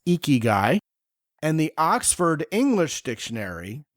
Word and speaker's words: ikigai: called eky guy which on the surface to the English-speaking sensibility sounds like a gross dude but the word is actually spelled i k i g a a I pronounced eeky guy and the Oxford English